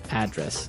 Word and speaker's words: address: live Y and there the stress is on the first syllable address right perfect very good